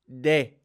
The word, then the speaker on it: de: people not sound native Spanish is more of a day like tip of your teeth day not D Day may not be bay